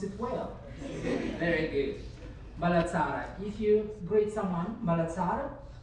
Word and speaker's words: Mbalatsara: Mbalatsara. You pronounce it well. Very good. Mbalatsara.